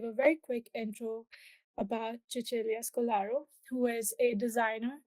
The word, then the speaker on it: Cecilia: Um for today's uh knowledge talk we have with us the awesomest ever Chichilia Scolaro. Please correct me if your name pronunciation is very good in great.